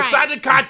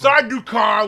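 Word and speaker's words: Sardaukar: is the Sajika troops. It's Sardukar, whatever.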